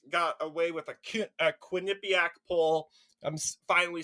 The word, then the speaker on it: Quinnipiac: see kamla Harris got away with a a Quinnipiac pull I'm finally saying it correctly if you